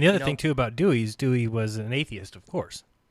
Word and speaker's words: Dewey: And in fact, and in fact, in the 20 decade, 1920, how you pronounce this? Dewey.